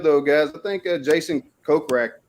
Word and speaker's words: Kokrak: From watching Live, though, guys, I think Jason Kokrak, is that how you say his name? Kokrak? Yeah. Good as your guess is as good as mine. No, that is 100% correct.